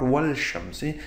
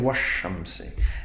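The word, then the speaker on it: والشمس: I'm not talking about wal shamsi, I'm saying washamsi.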